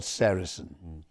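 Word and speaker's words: sericin: One of them, a very important one is called Sarrain. Now you spell that s e r i c i n.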